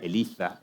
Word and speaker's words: Eliza: que se llama elaiza escribe Eliza está escrito ahí se pronuncia Eliza en español en español de España y que yo voy